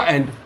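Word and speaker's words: end: इसका अलग हो जाएगा, क्योंकि हमने कहा इसको बोलना है तो बोलने में इसको बोलना पड़ेगा अंड, और इसको ई को क्या बोलना है ए, तो इसको बोलना पड़ेगा एंड। तो ध्यान दीजिए, इन दोनों को सेम प्रोनाउंसिएट मत करिएगा, ये अंड है और ये एंड है।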